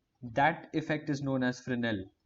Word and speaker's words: Fresnel: effect is known as flynn L so it's spelt differently than you think Fresnel but yet spinel so